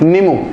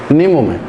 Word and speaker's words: Nimu: तो वो जगह है निमू, निमू में, और इसे निमू भी बोलते हैं, तो स्पेलिंग में कंफ्यूज मत होना, NIMU निम्मू भी बोलते हैं और नीमू भी बोल रहे हैं, ठीक है।